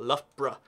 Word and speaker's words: Loughborough: Loughborough.